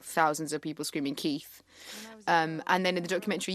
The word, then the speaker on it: Kit: It just sounds like thousands of people screaming Keith. And then in the documentary, you hear it. You hear all the fans screaming Keith. Yeah. Well, because K-I-T, I think in Spanish would be pronounced Keith.